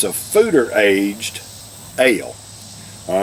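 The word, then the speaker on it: foeder: ale it it's pr it's spelled f-o-e-d-e-r but it's pronounced fooder this fooderage dale basically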